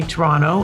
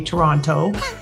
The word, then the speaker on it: Toronto: Except if you're Canadian, you say Toronto, and if you're not, you say Toronto. And you always know the difference if they pronounce that second T.